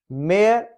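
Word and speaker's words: mayor: फो इसमें एक साइलेंट है। मेयर, मेयर सिटी का जो बड़ा ओहदा होता है इलेक्टेड।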